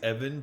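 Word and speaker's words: Ephen: I'd like to think it's Evan, but it's spelled E-P-H-E-N, like Steven.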